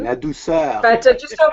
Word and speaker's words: Ladouceur: Ladouceur? No. Close, yeah. Ladouceur or Ladouceur if you want to say it French, Canadian. Ladouceur.